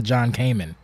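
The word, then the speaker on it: John-Kamen: So yeah, so I actually butchered her name. I got the middle name right. It's actually Hannah John Kamen.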